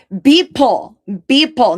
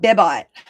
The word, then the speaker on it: Beeple: Beeple, not Bibot. Beeple.